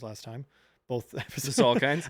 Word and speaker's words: Salkind: The Salkinds? I think it was called them the Salkins, but I was watching some things today and everyone's been calling them the Salkinds.